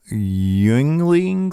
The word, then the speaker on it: Yuengling: The expectation, per multiple sources, is they will go to USF's Yuengling Center. How do you pronounce it?